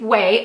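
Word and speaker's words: Ouai: talk about way yes it's pronounced way oh you a I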